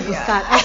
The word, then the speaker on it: biscotti: And I make a mean biscotti too. And that is? Biscotti. Yeah. Oh, biscotti.